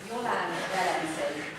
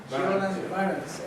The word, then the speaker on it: Jolan Velencei: How is pronunciation of your name? Jolan Velencei. Jolan Velencei. Velencei. Okay. Not the same that Venice. Almost the same.